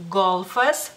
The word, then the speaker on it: golfas: digamos así, y es golfas. Golfas, golfas. Muchas veces las personas, la L en este caso, la pronuncian como suavecita, aunque gramaticalmente hablando no debería de ser suave la L, pero como sea, yo